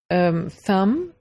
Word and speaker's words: thumb: word th um B thumb B is not pronounced in limb B is